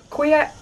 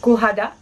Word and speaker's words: cuajada: So the next one is cuyada. No, it's probably supposed to be pronounced like cuajada, cuajada, because the Spanish don't pronounce the J.